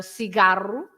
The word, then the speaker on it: cigarro: When it's a C and an E, or a C and an I, like cigarro, for example. Yes, you don't need an cedilla, and you pronounce it as an S sound.